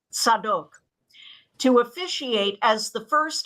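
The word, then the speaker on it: Zadok: in Jerusalem he appointed a man named zadik z-a-d-o-k in Hebrew pronounced sadok to officiate as the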